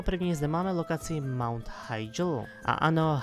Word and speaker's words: Hyjal: Mount Hyjal a ano, Hyjal je správná výslovnost, která by se měla používat, ale vzhledem k různým jazykům, k různým nářečím a podobné, někteří lidé to vyslovují jako Hyjal, někteří to vyslovují jako Hyjal a protože nikdy nebylo upřesněno, jak se má tahle lokace vyslovovat, tak to můžete vyslovovat více názvy. Tím správným by avšak měl být Hyjal.